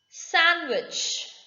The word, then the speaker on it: sandwich: second rule that is there are few words in exception where b is not pronounced sandwich it is not sandwich sand is there that is the soil sand but this is sandwich so next time when